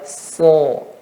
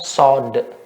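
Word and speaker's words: ص: Nah, short, ya, so. Yang betul banyak dari kita, Anda dulu waktu kecil juga membacanya sod. Yang betul so, ya.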